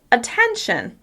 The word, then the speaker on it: attention: Attention. Attention. As you can hear, I'm stressing 10.